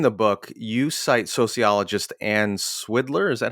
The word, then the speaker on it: Swidler: so early in the book you cite sociologist ann swiddler is that how you say her name yes